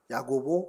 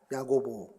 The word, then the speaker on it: 야고보: 이름이 연결되는 분이 있죠 야고보 그러면 야고 예 같은 말입니다 같은 말인데 어 약간 이제 헬라식 발음으로 이제 좀 하다 보니깐 야고보 이렇게 좀 발음이 되는 건데요 이코스 이제 이거 헬라어로